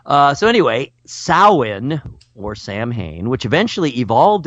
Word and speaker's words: Samhain: ancient Celtic tradition of sowhen which of course is spelled Samhain because man do the Celts like to pronounce things strangely so anyway sowhen or Samhain which eventually